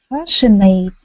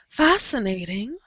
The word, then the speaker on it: fascinating: good but it uh it can also be fashionate fashionate f it sounds like an S the C is silent fascinating fascinating and rewarding uhuh